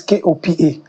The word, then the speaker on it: Kopa: The Kopa is Kopa. Okay, And the respect is normal respect.